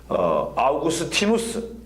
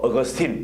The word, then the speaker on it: 어거스틴: 그리고 뭐 우리가 잘 아는 좀 이따 제가 공부하겠습니다만 어거스틴 같은 사람도 아우구스티누스 이렇게 하기도 하고 또 어거스틴 간단하게 말하기도 합니다. 어거스틴은 영어식 발음입니다.